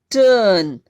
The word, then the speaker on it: turn: फिर है टर्न, देखिए मैंने की आवाज को लेके कुछ और लिए हैं, टर्न, TURN, टर्न। ठीक है, आर साइलेंट है और ये साउंड की साउंड है।